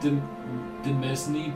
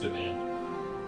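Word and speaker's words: demesne: 30 larger demand domain it's like the mesni but it's pronounced domain i don't know why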